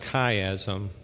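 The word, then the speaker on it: chiasm: kaym one more time c h i a m pronounced kaym so what you're going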